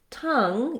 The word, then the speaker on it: tongue: Tongue, even though it's spelled differently, the NG is in the middle and there's some other letters here. Letter O actually says schwa. So tongue and sung are rhymes.